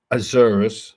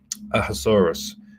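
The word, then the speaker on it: Ahasuerus: in the days of Azurus. So this is the Hebrew pronunciation of Xerxes, right?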